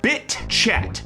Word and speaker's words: bitchat: It's encrypted, it's peer-to-peer, and it's called BITchat. BITchat. BITchat. Even though it's one word, please don't pronounce it the other way. That's going to be a bad time for everybody.